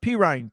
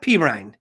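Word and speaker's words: Perine: Pirine. P-E-R-I-N-E. Pirine. Where's that guy from? Where's he from? I think Oklahoma. He played Oklahoma. Pirine. Yeah. What is that? What nationality? What is that? Pirine.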